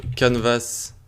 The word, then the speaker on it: canvas: Donc ça se prononce canvas en anglais, si je dis pas de bêtises.